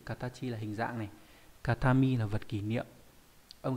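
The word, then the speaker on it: 形見: Ví dụ trong từ katachi là hình dạng này, katami là vật kỷ niệm. Âm ghép đọc là gyo hoặc là ke.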